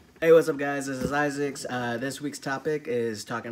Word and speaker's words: Izix: exactly a junior so instead of Isaac it's Isaac's and it spelled a